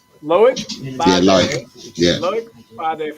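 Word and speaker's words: Loïc: How do you pronounce that guy's first name? Loic.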